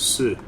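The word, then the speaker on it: し: It's a consonant followed by a vowel and makes up a single syllable. You pronounce this as si.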